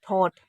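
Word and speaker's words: thought: पर टी एच है, तो इसको हम टी एच को था पढ़ें और इसको ओ पढ़ें और टी को टा पढ़ें, यानी कि थॉट, क्योंकि जी एच साइलेंट है इस वजह से।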